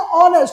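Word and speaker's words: honest: ऐसे लिखते हैं ना ऑनेस्ट, तो लिखते हैं एच से, लेकिन वो साइलेंट होता है, क्या लिखाता है ऑनेस्ट, तो जो उच्चारण करते हैं ना वही यहाँ पे लिखते हैं।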